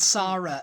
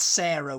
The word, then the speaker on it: Sara: Yeah, it's pronounced the same way whether it has an H on the end.